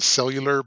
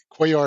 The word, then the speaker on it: Cuellar: i've heard it before most have centered around cellular but quayle is the right pronunciation oh yeah yeah that's